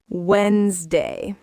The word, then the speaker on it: Wednesday: Wednesday is a funny one. The d disappears. Wednesday.